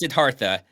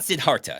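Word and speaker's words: Siddhartha: people that don't know sidartha is spelled with a th sidartha for people who um are normal that's you might know him as the Buddha uh his real name is sidartha not sidharta so he doesn't even spell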